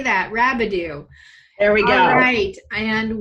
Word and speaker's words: Rabideau: well and it's Rabideau and I always say it you know pronounce it like scooby Doo and you'll never forget it yes there you can say that rabidue there we go great